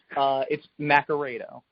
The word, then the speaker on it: Naccarato: Is it Naccarato? Is it potato, tomato? It's Naccarato.